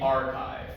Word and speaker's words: arXiv: Because in math, we have this special thing called the archive, and it's spelled like this, with the Greek letter chi in the middle, because mathematicians, you see, are all very pretentious.